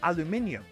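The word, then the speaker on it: aluminium: world it's spelled a-l-u-m-i-n-i-u-m they pronounce it differently because they spell it differently why is that it's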